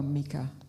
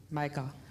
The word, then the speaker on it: Micah: Is your name pronounced Micah or Mika? Micah. Micah.